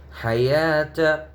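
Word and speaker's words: الحيوة: এখানে যে ওয়াওটি আছে ওয়াওটির উচ্চারণ হবে না, হায়াতা।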